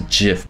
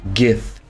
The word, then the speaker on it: GIF: saw jiff where these are thieves yes I pronounce a jiff before you go in the comments and say it's pronounced gif get out get out um so catapults means